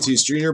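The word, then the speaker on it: Andújar: field Bryce Harper Clayton Kershaw Blake's no Miguel Andujar pronounced Interior Bryce Harper Noah Naylor Francisco Lindor Cowan Smith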